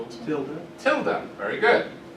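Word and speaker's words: tilde: to represent not anyone know what that's called Tilda Tilda very good not till day um even though it looks like it if you Ed the Spanish pronunciation t i l d e it's pronounced Tilda I don't know why it's probably German and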